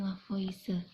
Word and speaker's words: Lavoisier: of i11 tulisannya itu lava I hear Tapi bacanya vs Uya Anthony Laurent lavoisier Nah kalau untuk contoh dari hukum perbandingan tetap